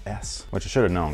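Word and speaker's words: éS: I'm just like, if you say tomato or tomato, what's the difference? Apparently, my whole life has been a lie, my whole skate fan life. This brand's not called ES, it's called S, which I should have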